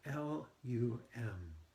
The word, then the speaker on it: Lum: of the Mantra Lum it's sounds like it's spelled l u m so squeeze on the